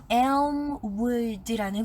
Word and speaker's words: Elmwood: 스펠링이 ELM, 그 다음에 wood, WOOD 이렇게 붙이는 건데, 이 film 같이 LM이 만나면 약간 L이 묵음이 되는 현상이 있어요. 그래서 elm이라고 하면 안 되고 elm 이렇게 부드럽게 해야 되는데, 네, 그 부분 조금 조심하셨어야 했고요.